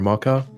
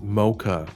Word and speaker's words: mocha: starbucks and i and i asked for a mocker and and she got really mad at me because i was pronouncing it wrong oh mocha yeah they were like it's pronounced mocha say it properly and i'll serve you and